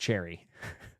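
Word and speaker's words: Cherryh: Cherry is pronounced Cherry.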